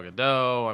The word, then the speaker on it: Gadot: I've always just Gal seen it Gadot? written. Yeah, so Gal Gadot is what I say. Yes. It's got a T in it, but The T is silent.